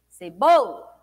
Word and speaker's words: cebola: Cebola. O bo, né? O bo a gente falou com maior intensidade. O bo é a penúltima sílaba.